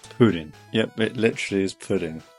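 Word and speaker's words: プリン: Jigglypuff in Japanese is purin, pronounced pudding.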